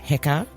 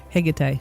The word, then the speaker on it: Hecate: Um right, today we're talking about and I'm I hope I'm going to pronounce this right, Hecate. Hecate.